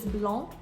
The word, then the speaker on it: blanc: A common word that is an exception is the word for white, which is blanc.